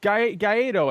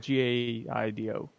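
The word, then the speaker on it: Guaidó: So Guaido, I think his name is. Have we established his name's Guaido? It's spelled Gaido.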